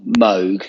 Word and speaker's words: Moog: it was it was it was like Bob Moog I think it's the correct pronunciation of Moog um versus Dave Smith they